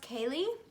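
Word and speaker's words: céilí: Okay, so it is spelled very interestingly because it is in Gaelic, but it's pronounced Kaylee. At least that's how Google told me it was pronounced, so I'm hoping I'm saying it correctly.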